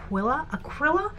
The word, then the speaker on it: Acryla: So I've only got little bits and pieces of the acryla? Is it acryla? Am I saying it wrong? Acryla, yeah, acryla, like acrylic gouache basically.